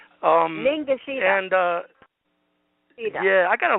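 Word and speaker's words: Ningishzida: How do you pronounce that? Negazitra? Ningashita.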